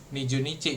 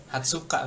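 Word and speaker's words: 二十日: Ini 20 beda sendiri bukan niju niju nici gitu. Hatsuka tapi kalau umur 20 apa putri?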